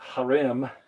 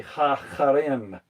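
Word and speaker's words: חרם: Some people just call it harem. That's anglicized, I guess you'd say, but it's actually ha-harem.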